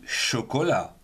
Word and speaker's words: chocolat: Et on finit donc avec la syllabe ne, la Chine, en deux syllabes du genre féminin. Avec chaud, on aura par exemple du chocolat.